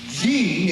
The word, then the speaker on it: Jean: Jean is pronounced Jean.